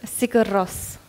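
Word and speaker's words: Sigur Rós: By the way, Hannah, you're probably the only non-Icelandic fan of this band that can pronounce their name correctly, right? Yeah? Yeah. How do you say their name? Sigurós.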